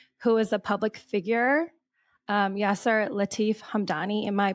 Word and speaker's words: Yasser Latif Hamdani: marriage, your husband, who is a public figure, Yasser Latif Hamdani. Am I pronouncing his name correct?